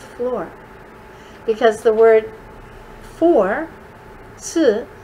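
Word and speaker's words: 四: In apartment buildings and high rises, they don't have a fourth floor because the word for, si, sounds like the word for death, si.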